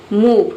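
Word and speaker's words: move: मूव, कैसे pronunciation बन रहा है? एम का हो गया मो, ओ का हो गया ऊ, वी ई का हो गया ओआ, मूव। मूव मतलब हिलना या हटना।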